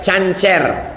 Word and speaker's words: cancer: Ini kata dokter, kalau tidak dioperasi dibuang nanti membesar kista menjadi cancer, C-A-N-C-E-R, cancer. Cara membacanya cancer. Orang kita payah nyebut cancer, kenapa? Kanker.